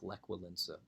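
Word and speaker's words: Lech Wałęsa: like well Lisa as you can see it's pronounced like lek will ensue okay as I said it's an anti-communist movement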